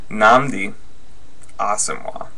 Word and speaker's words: Nnamdi Asomugha: Nnamdi Asomugha. That's the correct pronunciation.